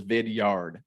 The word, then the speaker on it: Vidyard: heard of vidyard it's pronounced or the way it's spelled as vidyard v-i-d-y-a-r-d so vidyard is a video platform where